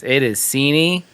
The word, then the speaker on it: Seaney: Did I say your name wrong? That's an open wound for me right now. It is Seaney.